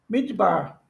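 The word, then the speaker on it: מִדְבָּר: Então é mid mid bar. Mid bar nem fala. A gente nem fala nem pronuncia esse shiva.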